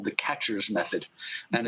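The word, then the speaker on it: QuEChERS: extraction method called the catchers method and it's um it's abbreviated with a bunch of letters catchers is not spelled like a catcher's mitt but it's q-u-e-c-h-e-r-s and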